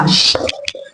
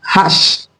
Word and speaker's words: hache: Ce mot également porte un H aspiré, donc nous n'allons pas élider l'article devant ce mot, nous allons tout simplement dire la hache. La hache.